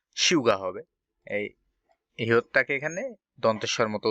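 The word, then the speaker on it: 휴가: এটা হিউগা বলি, তো আসলে উচ্চারণটা হিউগা হবে না, শিউগা হবে।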